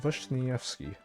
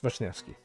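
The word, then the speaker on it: Wiśniewski: It's uh Vashnyfki. Yeah, it's Vashnyfki. I had to double check because I specifically had to ask my Polish colleague colleague how to pronounce this.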